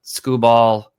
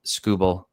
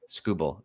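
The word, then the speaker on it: Skubal: next is this uh TK scoble uh not scoo ball like sco Ball but scoble just for the record for everybody in the universe TK scuel is how you say his name uh and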